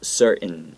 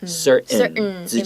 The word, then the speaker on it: certain: middle of a word we will often like swallow that t so that there's no t sound and then it goes certain certain certain certain uncertain so that's a